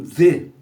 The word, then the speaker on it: the: O inglês tem o the, né? O artigo, né? The, que você pronuncia com a língua no meio dos dentes, né? The. Não é T, é the.